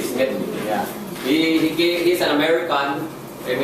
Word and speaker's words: Smedley: I hope I pronounce that name right. Smedley. Smedley.